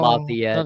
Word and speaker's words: Lafayette: pronounced No, Lafayette.